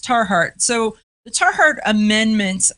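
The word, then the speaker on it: Tiahrt: statements in here and i think that it's pronounced tar heart so the tar heart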